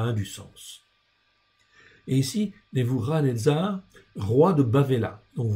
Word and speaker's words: Nebuchadnezzar: En fait, pour bien prononcer, on dit Nebuchadnezzar.